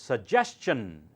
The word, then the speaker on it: suggestion: not shun s s t i o n is a like question now try it correct it's suggestion it's not it's not